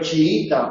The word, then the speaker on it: chiita: Si es aguda, chií, se acentúa. Pero chiita o chiismo es llana y por lo tanto, como palabra llana, no se acentúa.